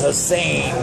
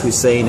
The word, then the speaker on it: Hussein: Ever since I told him that one of the S's was redundant and it's Hussein and not Hussein.